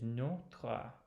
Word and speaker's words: Notre: you will know that you close that with bringing the T back to the O. Well, I'm not going to say it. I don't want to reinforce the error, but that's what we do in English, whereas it is notre in French.